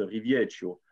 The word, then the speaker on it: Rivieccio: Donc, parmi nous ce soir, nous avons Riviescio, ou on le prononce, si vous le voulez, à la Corse, Rivieccio, qui sera parmi nous, donc qui est responsable sponsoring Orange France.